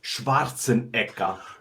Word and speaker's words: Schwarzenegger: know back I'll be back yes it is pronounced Schwarzenegger Schwarzenegger you know what it means you know